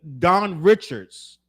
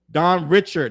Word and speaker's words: Dawn Richard: him there was an Don Richards did I say her name was Don Richards Don Richard no s Don Richard brought a